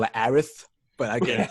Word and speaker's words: Aerith: I'm trying to correct myself and call it Aerith, but I get it's hard. No, she's Eris. She's Eris. This Aerith shit is dumb. She's Eris. It's the same pronunciation.